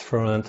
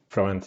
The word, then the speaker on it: Florent: pronouncing your name correctly is it florent yes it's florent or for ah but yeah florence is okay for me it's very hard to